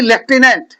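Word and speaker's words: lieutenant: ऐसे ही लेफ्टिनेंट क्या बोलते हो? लेफ्टिनेंट फ आ रहा है कि नहीं आ रहा है? ना लेकिन एफ उसमें वर्ड दूर-दूर तक नजर नहीं आएगा। लेफ्टिनेंट पढ़ोगे लेकिन लिखोगे कुछ और लिखोगे। लेटिनेंट स्पेलिंग चेंज होती है।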